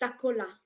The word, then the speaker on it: Sakola: It's pronounced Sakola. Sakola. Yeah, Sakola. I Okay. know. It's in Lingala.